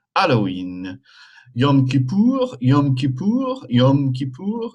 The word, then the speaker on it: Yom Kippur: Yom Kippur, Yom Kippur, Yom Kippur. The M is pronounced.